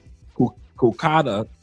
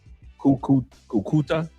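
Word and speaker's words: Cúcuta: He said, "Reach out to Colonians in uh Kukada." I hope I pronounced that right. Kouta. Uh I pronounced it incorrectly. C U C U T A Kakuta.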